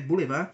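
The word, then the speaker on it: boulevard: livro montuosa significa montanhosa bolevard que é em francês né Boulevar significa avenidas arborizadas de permeio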